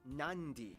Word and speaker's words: Nadi: the um sound therefore the town of nadi is actually pronounced nandi and this word is